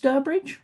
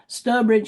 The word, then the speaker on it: Stourbridge: Um, that's because it's supposed to be pronounced Sturbridge, I'm told, by the people who live around there, so you can contradict me or not, but Sturbridge is what it ought to be.